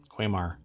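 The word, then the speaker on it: Quamar: coffee grinder and bar equipment manufacture brand sorry quaymar yeah it's spelled q-u-a-m-a-r has rolled out the cereal q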